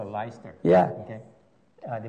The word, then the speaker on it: Leicester: in the United Kingdom by the name of leister Leicester okay and then they call it leister yeah okay they pronounce the Leicester yeah and uh yeah it